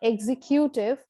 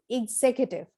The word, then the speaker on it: executive: word is executive executive this is not executive but executive now this is another month